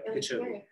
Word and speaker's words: Kipchoge: Yeah, Kipchoge.